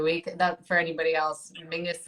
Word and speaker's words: Menzies: That for anybody else, Mingus is how weirdly the Scottish people that's how they would pronounce Menzies. I don't understand where the G Yeah, comes out of it, but that's it is a little weird.